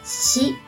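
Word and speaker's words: 死: confused the next is she means death by the way did you realize that this has the same pronunciation as the number four she you guessed it right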